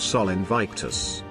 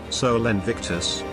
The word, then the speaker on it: Sol Invictus: Now if you'll notice there is a slight bit of inertia when speaking the word, which enunciated would be spelled, Sol Invictus, two words both one syllable each.